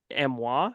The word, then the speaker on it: Amiens: drawn and all that from Christophe, but that Amois, France, that's how you pronounce Amiens technically.